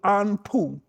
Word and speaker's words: Anpu: And also, it is called pose of Anpu. Anpu is A N P U.